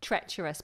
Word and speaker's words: treacherous: I'm not sure treacherous treacherous perfect with r inside yes both the RS are pronounced um you can also